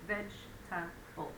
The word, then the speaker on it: vegetable: So vegetable is old language. So for spelling, it's a good way to remember it, but nowadays it's shortened to vegetable, 3 syllables.